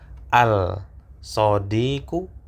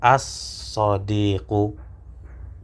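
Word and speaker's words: الصديق: Apakah al-sodiku atau as-sodiku? Ya, tentu ini dibaca, lamnya tidak dibaca. As-sodiku yang berarti sahabat.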